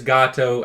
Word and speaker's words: Gato Roboto: It is Gato, as in.